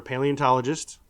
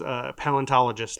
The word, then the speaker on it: paleontologist: I'd be as as we discussed either a paleontologist or or or a semi-truck driver. You wouldn't be a paleontologist. You'd be a what? Oh. Oh. The the way I pronounced it as a kid was palentologist.